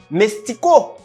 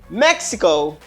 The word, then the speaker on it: Mexico: Mestico. No. Stop saying that. Suspend dit bagay ça. Qui sont capable de dire ça? Mexico. Mexico. Wow.